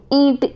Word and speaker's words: ईंट: ईंट, इसमें क्या है कि नाक से ध्वनि निकल रही, ईंट, तो इसमें आप उच्चारण करके देखोगे, भाई ये उच्चारण करना आना चाहिए।